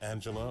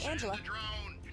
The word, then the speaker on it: Angela: talking to miss is your name pronounced Angela or anela both are fine but most people call me Angela oh that's okay so